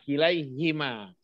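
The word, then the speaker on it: كليهما: Karena sulit dalam pengucapan, maka harokat ha diselaraskan dengan ya sebelumnya.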